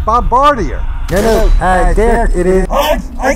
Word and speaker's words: Bombardier: As a military historian, it is in fact pronounced Bombardier.